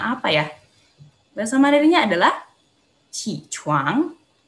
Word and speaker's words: 起床: Nah, QI di sini tetap bacanya I ya, qi, karena kan bukan bagian dari 6 kosakata yang tadi lo sudah jelasin, bener nggak? Jadi kita tetap bacanya qi gitu ya, qi chuang.